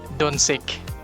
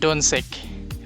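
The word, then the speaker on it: Dončić: nga ilabasa ni kay Doncic. Kaya naanad nga ang C kung masundan siya bawal nga I ug E kaya ang pronounce na niya kay S. So usay basahan nila og Doncic.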